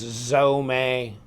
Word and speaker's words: Zome: that you get and so right here it's pronounced zome a and this is a glow-in-the-dark FRN handle with